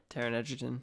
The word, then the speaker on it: Egerton: And Taron Egerton, is that how you say it?